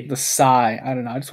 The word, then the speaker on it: sai: these sword things are called Sai s AI it's spelled I guess that's it okay well the S the sigh I don't know I just wanted to know